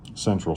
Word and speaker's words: Sentral: So this is Central Station. It's spelled with an S if you're trying to Google it.